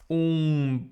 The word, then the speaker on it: um: Um vinho, por favor. So I would write like this. As the same sound as moon. Today I can see the moon.